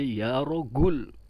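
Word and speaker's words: رجل: ya rojulu ya rojul Mesir dibacanya ya rogul bukan ya galak Bro Waduh serem Bro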